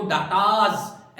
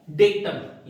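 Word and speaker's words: data: इसका सिंगुलर होता है डेटम, यानी आंकड़े, आंकड़ा, और डाटा या आंकड़े मतलब डेटा। दोनों प्रोनाउंसिएशन है। ब्रिटिश प्रोनाउंसिएशन इसका डेटा है, अमेरिकन प्रोनाउंसिएशन इसका डाटा है।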